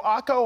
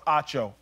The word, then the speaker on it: Acho: friends when people say oh emanuel akko i'm like no it's acho ocho no it's octo